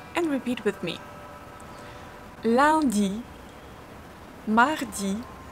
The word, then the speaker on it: Mardi: Mardi. Mardi. When you pronounce a, your tongue is laying on your lower teeth here.